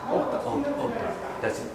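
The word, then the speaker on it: Ótta: So the latest album, Ota, how do you pronounce it? Ota.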